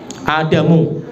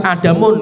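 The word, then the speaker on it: آدَمُ: Adamu, bacanya tidak bisa Adamun, nggak bisa Adamu.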